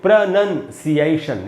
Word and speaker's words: pronunciation: बट दोस्तों अगर आप ध्यान से देखें तो इसमें NOUN नहीं है, इसमें होता है NUN, इसलिए हम इसको पढ़ेंगे प्रोनंसिएशन। ये इसका शुद्ध उच्चारण मैंने यहाँ पर लिख दिया है, प्रोनंसिएशन।